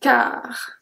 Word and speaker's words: quart: Un quart. Un quart. We don't pronounce the U as well.